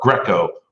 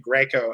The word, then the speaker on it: Greco: People sometimes pronounce my name Greco, and I say no, like the wrestling.